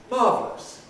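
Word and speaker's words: marvellous: or various other arabs learners of english often think that ous means us but it doesn't it's just a way of spelling so this word is pronounced marvelous or marvelous it's one of the words subject to compression which we explained it can be marvelous but in real life it's usually marvelous or in american english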